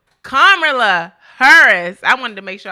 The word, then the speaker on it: Kamala Harris: Kamala Harris.